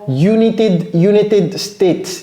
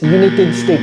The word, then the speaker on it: United States: Ok, donc ici, United States, il y a S à la fin. United States, c'est comme ça que ça se prononce. Hein? Ne dites pas United. J'entends très souvent United States. United States. Non, c'est United States.